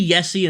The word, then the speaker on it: Jesse: And because we're from Finland, let's say Yessi instead of Jesse. It's pronounced Jesse over here, but we'll say Yessi just for the sake of it.